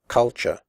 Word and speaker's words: culture: the word culture correctly the first U is pronounced like the O in butt and the last syllable is pronounced sure here are some other